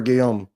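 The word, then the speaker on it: Guillaume: Um, Robert Gilami, I'm not sure how to pronounce it, but he's the voice of Rafiki. It's his birthday. Um, B. Midler. Robert Gom.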